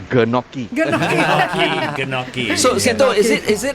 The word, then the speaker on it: gnocchi: to people who cannot pronounce GN, it's gnocchi.